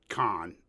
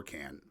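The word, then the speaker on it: Cannes: George Lucas was at the con or can film festival depending on your English or French pronunciation like ComiCon that'd be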